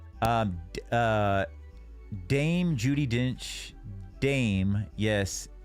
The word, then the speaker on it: Dame: Dame. Yes, it's the female equivalent. Rhymes with the same. Rhymes with same. Dame.